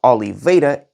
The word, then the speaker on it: Oliveira: Actually, there's a YouTuber called Tyler Oliveira, brother has the last surname as me, and yes, it's called Oliveira. That's how you pronounce it, because I'm Portuguese and you are not, probably fuck you, that went there and filmed things.